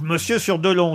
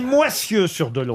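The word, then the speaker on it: Moissieu-sur-Dolon: Une autre citation pour Gisèle Lantôme, qui habite donc Monsieur sur Dolon, disais-je. C'est vrai que c'est un drôle de nom, Moisieux. C'est Moissieux sur Dolon.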